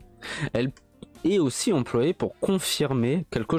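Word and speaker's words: へ: Mais on va la particule e qui s'écrit he mais qui se prononce e. Il y a une diff. Donc he et voilà, ça se prononce e et pas he.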